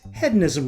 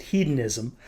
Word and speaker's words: Hedonism: Despite the fact that the American in me wants to pronounce it hedonism, I attended a benefit tasting with Compass Box founder and whiskey maker John Glazer last year, and he pronounces it hedonism.